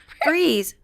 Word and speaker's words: Frias: Frias. Freeze. Are you okay? No, I mean, it's spelled the way you said it. I've heard you say it a million times, so freeze. It's okay.